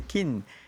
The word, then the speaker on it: Kin: Je dis, le nom qui m'ont de moi, c'est Kin.